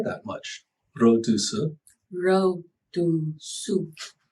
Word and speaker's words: 肉毒素: Rodusu. Yes. Okay. Is that, I thought that Chinese didn't really have the R that much. Rodusu. 肉毒素. Rodusu.